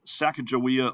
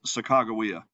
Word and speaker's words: Sacagawea: to pronounce that wrong you've probably been taught to pronounce it Sacagawea or some other oh terrible mispronunciation her name really is sakagawea what's that land like